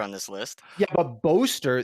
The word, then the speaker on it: Boaster: Yeah, but Boaster, the cadence of the syllables, Boaster. you emphasize bo.